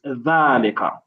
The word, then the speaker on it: ذلك: Sometimes your dhal sounds a bit like the azalika. Try to not pronounce it as za. It's dhalika.